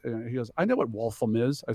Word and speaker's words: Waltham: He goes, I know what Waltham is. I said, oh, it's actually pronounced Waltham.